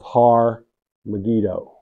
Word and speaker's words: Har Megiddo: Revelation and it's the valley of har megiddo har har did I say it wrong no that har I want them to hear it har har megiddo two words two words well what is the